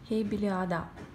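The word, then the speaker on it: Heybeliada: по величине принцах островов и били а да именно ударение на последнюю буковку потому что ода по-турецки остров всего их напомню 9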